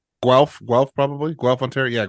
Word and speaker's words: Guelph: It's pronounced Guelph.